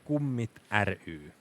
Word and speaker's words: Kummit ry: A lot of people have been wondering how to pronounce this over the weekend, and I cannot blame them for getting it wrong. But it's Kummit ry.